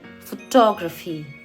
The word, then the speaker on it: photography: So whenever you find words ending in graphy, just remember stress last में graphy पे नहीं बल्कि उससे पहले वाले syllable पे होता है। तो इसको हम बोलेंगे फोटोग्राफी, इसको हम बोलेंगे डेमोग्राफी।